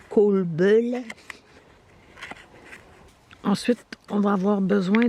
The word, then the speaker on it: kolbulle: Puis comme c'est des vidéos sans parole, bon, ben moi, ma connaissance du suédois est assez limitée, mais je pense que ça se prononce kolbulle.